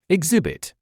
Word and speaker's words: exhibit: The h at the beginning of this word is silent.